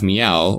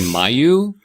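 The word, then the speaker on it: Myau: have Odin, the guy, you have Meow, or as some people, I don't know who would do this, but some people say Mayo. Sorry, Mike. Yeah, I don't understand who would ever pronounce it that way.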